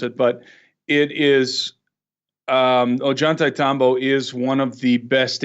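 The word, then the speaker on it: Ollantaytambo: video I was with LA at the it's pronounced oh geun-tae yeah that's it and very few people know how to really pronounce it but it is Ajanta Tombo is one of the best examples of cyclopean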